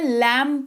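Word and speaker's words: lamb: लैंप नहीं पढ़ते हैं। लैंप पढ़ते हैं।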